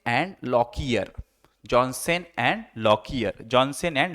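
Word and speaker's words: Lockyer: यहाँ पे प्रोनाउंसिएशन है, जॉनसन एंड लॉकियर।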